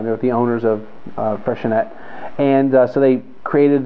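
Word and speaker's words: Freixenet: same owners as um freshenette it's not freshen a not a french word it's freshenette um another one of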